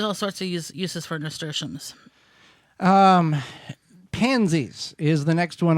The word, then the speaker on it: nasturtiums: Nasturtiums?